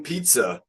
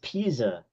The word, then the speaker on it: Pisa: Tower and then leaning pizza is that what it's called the Leaning Tower of Pizza let's bring it back down here we go again teacup I believe it's pronounced Pisa I know you're right